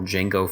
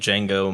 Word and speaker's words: Django: uh jamie foxx says the d is silent he's like i know